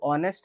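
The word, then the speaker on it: honest: अब ऑनेस्ट है तो यह एच यहां पे साइलेंट हो जाता है। ठीक है? इसको बहुत बच्चे होनेस्टनेस्ट पढ़ते हैं। तो गलत है।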